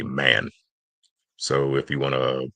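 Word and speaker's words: من: So don't pronounce it like an English word man which has a long a. The Arabic word man has a shorter vowel sound.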